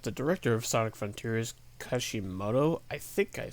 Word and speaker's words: Kishimoto: Director Mario Kishimoto, aha!